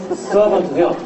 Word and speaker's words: servant: 그 다음에 servant도요, R을 너무 안 굴리는 게 좋아.